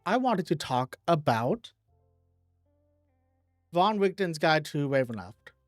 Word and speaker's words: Van Richten: Okay, so next up, I wanted to talk about Von Richten's Guide to Ravenloft. I think it's Von Richten, not Van Richten. I'm pretty sure it's Von Richten because that's normally how this would be pronounced.